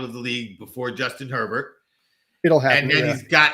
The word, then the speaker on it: Herbert: know it's his name pronounced herbert like it is herbert not a not like bobby bear okay so justin herbert